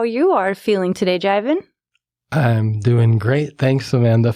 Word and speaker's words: Jivan: let you know that my name is pronounced yeah it's a Sanskrit and Hindi word so it's from India